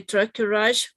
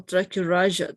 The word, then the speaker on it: tracheorrhea: You can say tracheorrhea or tracheorrhea. That's the same, okay?